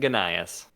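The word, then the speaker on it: Gnaeus: can we get okay wouldn't it be nias with a silent G you would think so uh but when I was was pronounced when I was in Latin it was it was gas and ganas those are just some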